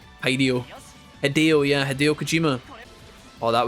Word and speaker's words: Hideo: I will say his name wrong. I always call him Hideio. Hideio. Hideo.